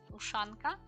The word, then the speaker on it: Ushanka: This is how it's pronounced. Ushanka.